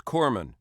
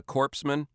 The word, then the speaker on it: corpsman: it is it is Corman you don't pronounce the S yeah I mean it's not very good for a guy delivering first aid to be called a corpsan yeah yeah kind of